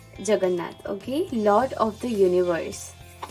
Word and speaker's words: Jagannath: Lord Garuda and Gajanath. Sorry, Jagannath. I'm so sorry to pronouncing it wrong. Jagannath, okay?